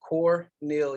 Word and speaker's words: Cornelius: um I'm your host Cornelius now like y'all ask me how you say that it's pronounced core Neil yes three syllables I know it's spelling